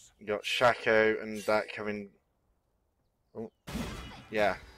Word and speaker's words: Shaco: Shaka is back. Yeah, there's Shaka. Apparently it's Shaco. Yeah, apparently it is. Shake is spelled with a K.